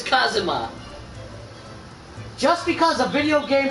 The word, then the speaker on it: Kazuma: kazuwama to do everything i can do kazuma kazama did you just say it's kazuma it's it's pronounced kazuma it's kazuma just because a video game pronounces it kazuya